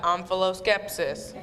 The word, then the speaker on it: omphaloskepsis: Yes, and you got omphaloskepsis.